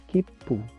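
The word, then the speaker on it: きっぷ: menjadi keep pun Oke jadi untuk cara bacain pertama hanya dibaca Kipu karena tidak ada sucil sedangkan yang kedua dibaca kippu karena ada Su kecil oh begitu terus kalau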